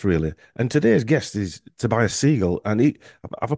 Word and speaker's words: Tobias Segal: about about health really and today's guest is Tobias seagull and he have I pronounced that right Tobias you did you did